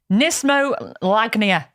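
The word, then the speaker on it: knismolagnia: Do you know what nismolagnia is? Nismolagnia. It's got a silent K at the beginning.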